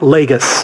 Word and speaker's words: Lagos: No, it's Lagos if it's in Portugal. The one that's in Nigeria that she damaged is pronounced Lagos. That's like Lagos. Like Gus. Like Nagus. Okay. Like Nagus from Star Trek, but with an L.